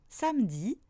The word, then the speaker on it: samedi: Par contre, il ne se prononce pas quand il est à partir de la deuxième syllabe du mot, comme dans samedi, boulangerie, projeter.